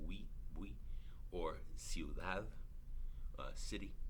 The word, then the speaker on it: ciudad: That's one syllable, bui. Or ciudad, city, right?